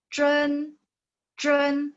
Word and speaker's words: 真: Oke, 11 当然 12 请 13 味道 14 真 lidahnya ditempelin di langit-langit 真 15 ini sebenarnya bunyinya